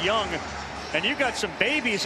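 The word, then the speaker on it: Jung: It's pronounced Young.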